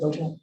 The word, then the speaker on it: Beauchamp: Okay, so the first item on the agenda here is we have Beauchamp from, is that how you pronounce it, Beauchamp? Yep.